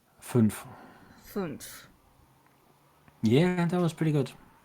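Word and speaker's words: fünf: Funf.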